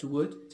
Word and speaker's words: would: لاحظ معي كلمة would تتألف من W-O-U-L-D, هنا حرف L صامت لا ينطق, والنفس الشيء بالنسبة لكلمة